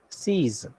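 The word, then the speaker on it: six: Okay, number 6 is pronounced as seize.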